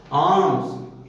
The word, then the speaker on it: alms: आर्म्स, ALMS, लेकिन एल का उच्चारण नहीं हुआ, आर्म्स बोला गया।